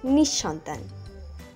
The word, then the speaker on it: নিঃসন্তান: অনেকেই উচ্চারণ করে থাকেন নিঃসন্তান, সঠিক উচ্চারণ নিঃসন্তান।